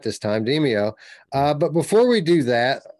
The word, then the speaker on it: Demeo: I said it right this time, Demeo.